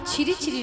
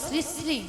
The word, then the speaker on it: শ্রী শ্রী: আরে মাসি, ওনার নাম ছিরি ছিরি নয়, বলো শ্রী শ্রী।